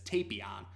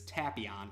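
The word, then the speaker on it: Tapion: name was pronounced as tape Aeon but in the xenoverse 2 video game the character's name is pronounced as tapi on which is also the characters pronunciation and the subversion and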